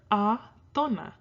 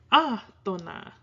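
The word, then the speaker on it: átona: tónica, tónica, tónica, or atona. You don't put your stress on the to in atona, you go atona.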